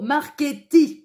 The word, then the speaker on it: Marchetti: éclairer votre lanterne alors le C et le i là c'est c'est plus une une voyelle derrière en italien et bien ça se prononce cheveux et le CH contrairement aux Français ça se prononce que voilà alors moi qui